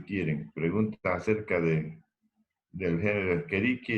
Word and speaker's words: Escherichia: La pronunciación correcta es Escherichia, ¿no? Pero normalmente muchos dicen Escherichia.